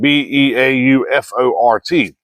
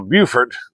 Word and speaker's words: Beaufort: We have a Beaufort that's spelled Beaufort. South Carolina has a Beaufort, which is spelled the exact same way. But South Carolina's is Beaufort, North Carolina's is Beaufort.